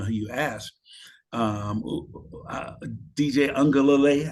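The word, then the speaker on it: Uiagalelei: Um, DJ Ungalale, I think is how I pronounce his name, coming in.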